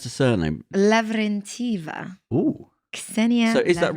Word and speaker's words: Lavrentieva: Ksenia And how do you pronounce the surname? Lavrentieva.